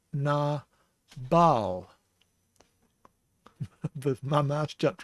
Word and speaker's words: Nabal: This is na, and we have the B sound because of the dagesh inside the bait. So it's na bal.